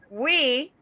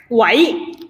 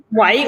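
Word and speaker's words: 喂: And I also found out that "we" means hello, right? Wai. Oh, sorry. Why? Wai. When you talk on the phone, Cantonese is wai is hello.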